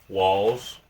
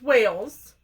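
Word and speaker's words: Whales: have a snack share walls it's pronounced Wales walls Wales oh okay Wales Wales are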